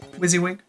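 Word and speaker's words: WYSIWYG: everybody very angry how do i pronounce wizzy wig wizzy wig how do i pronounce supercalifragilisticexpialidocious the way that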